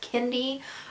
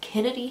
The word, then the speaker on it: Kendi: Kendi. I say Kennedy half the time when I say his name, but it is Kendi, and I know that.